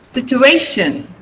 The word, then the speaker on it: situation: Situation. Situation. Okay, A is stressed. A is before T-I-O-N.